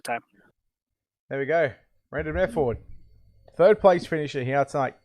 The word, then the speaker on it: Mefford: Mefford. M-E-F. Mefford. Yep. Yeah, okay. All right. It's so kind of like method with a TH, right? But method.